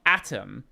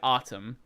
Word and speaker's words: Artem: It's not Atom. I didn't say Atom, I said Artem. And my surname has an accent on the last vowel, not on the first or I don't care.